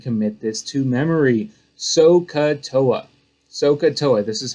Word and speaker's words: SOHCAHTOA: SOHCAHTOA, this is how you say it up here. SOHCAHTOA.